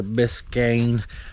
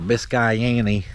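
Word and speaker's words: Biscayne: them as Impala belir biscan or bisayan if uh you pron it like I pronounced it the first time I seen it she's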